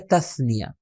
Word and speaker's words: تثنیہ: کہا جاتا ہے تثنیہ، بلکہ ہم تلفظ کرتے ہیں تثنیہ، صحیح تلفظ اس کا ہے تثنیہ۔ ڈویل یعنی دو لوگوں کو ریفر کرنے کے لیے ورڈز ہے، جس کی مثال کیا تھی؟